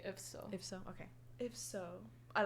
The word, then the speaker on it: IFSO: You can say that both, but I prefer to say IFSO.